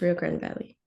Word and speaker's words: Rio Grande Valley: University of Texas, Rio Grande Valley.